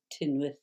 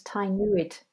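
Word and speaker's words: Tŷ Newydd: up in Wales, the Tynwyth North, the writing centre. How do you pronounce it? I thought it was Tynwyd. It's spelled T-Y and then new word N-E-W-Y-D-D, but it's actually Tynwyth.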